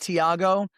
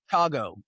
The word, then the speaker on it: Thiago: So, I think I've got now I thought it was pronounced Thiago, but where he's from, it's pronounced Chago. The th is pronounced as a ch.